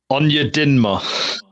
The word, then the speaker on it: Onyedinma: How do you pronounce his surname? Onyedinma.